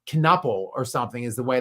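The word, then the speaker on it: Knueppel: I want to think that K is silent, but it's not. Knuppel or something is the way that's pronounced.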